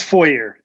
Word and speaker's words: Feurer: It's Feurer. Feurer. It's not like it's spelled at all. It sounds like a church foyer almost.